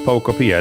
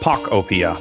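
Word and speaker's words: Pokopia: It's pronounced Pocopia. That's what I'm saying. Right. Popia or is it Pop Opia? No. Right. If it's Pac Opia, oh, hell no. Pocopia is better for me.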